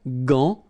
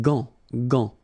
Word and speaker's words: gant: But in that case, you've got this an, so it's nasal, gant, and then final T is not pronounced here. Un gant de toilette.